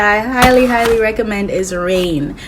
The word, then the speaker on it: Reign: next show that i highly highly recommend is rain pronounced r-e-i-g-n the show is so bomb it follows